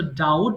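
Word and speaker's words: doubt: ডাউট সন্দেহ করা ওকে letter বিজ সাইলেন্ট ইন দিস ওয়ার্ড এই এই বিটা কিন্তু সাইলেন্ট সো লেখার সময় আমরা লিখবো এট দ্যা time of writing will write but এট দা time of pronouncing this word will won't pronounce বলার সময় বলবো না সো ডাউট সন্দেহ করা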